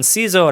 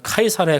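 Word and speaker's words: Caesar: 로마의 홈즈의 카이사르를 이야기합니다 영어로는 씨저 라고 발음 하지만 라틴어의 정확한 발음은 카이사르의 가깝습니다 다른 말로 번역돼 서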